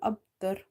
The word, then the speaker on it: أبتر: We are reading ta fatha, ra tar. Huwal abtar. No problem.